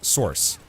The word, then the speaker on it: Sorc: It's Sork hard C, you don't pronounce. You don't have any letters following.